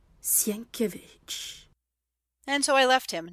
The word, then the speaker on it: Sienkiewicz: It is pronounced Sienkiewicz. S-I-E-N-K, Sienk. I-E, ear. W-I-C-Z, Vich. Sienkiewicz."